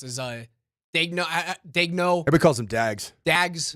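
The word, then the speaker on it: Daigneault: There's no reason to change whatsoever if you're Danielle or how do you pronounce his uh Dagno? Dagno.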